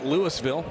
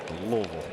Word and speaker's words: Louisville: It's not Lewisville. Correct. You have to get a little guttural with it. Louisville. Louisville.